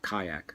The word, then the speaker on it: Qayaq: Kayak. It's not spelled like the boat.